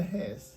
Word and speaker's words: Hesse: লেখক সুইস লেখক হারম্যান হেস কেউ কেউ তার নামের শেষ অংশকে হেসে উচ্চারণ করতে পছন্দ করে এই বইয়ের একটি কপি